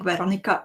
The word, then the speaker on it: Veronica: do we call her Veronka and the spelling Veronica? Is this a language pronunciation? Just want to get it right. Both are right. Veronica is the official version. Veronka is like the cutie version.